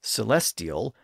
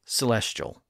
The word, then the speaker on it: celestial: Some of you say celestial, and some of you say celestial.